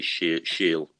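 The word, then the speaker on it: Schiele: german uh egon now i don't know how to pronounce his surname it's spelled s-c-h-i-e-l-e so i'm going to say she'll and he was early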